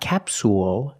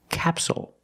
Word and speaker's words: capsule: this word is capsule again stress is on the first syllable so the second syllable is short it's not capsule it's capsule with a dark L at the end capsule so we see the